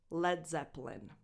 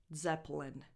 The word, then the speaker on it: Led Zeppelin: That E between the P and the L is basically silent. Zeppelin, Zeppelin, Polin. It's just a small schwa, if you speak super slowly, that is just there to separate the P from the L. But if you speak at a normal speed, Led Zeppelin, there's really nothing there.